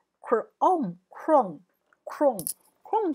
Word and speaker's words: Chrome: 好，这个 ch 的话本来是念曲的音，可是这里不念曲，这边念 k chrome，不是 chrome 哦，是 chrome chrome，请记住 chrome。